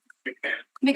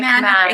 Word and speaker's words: McMahon: So, we have the next appellant joining us in person is McMahon. Sorry if I mispronounced your name. McMahon. McMahon.